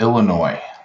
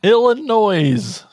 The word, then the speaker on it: Illinois: Illinois. The S is silent.